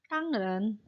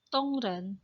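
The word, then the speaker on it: 当然: Ya, tangren. Ya, tongren. Ya, bacanya tongren. Tulisannya tangren.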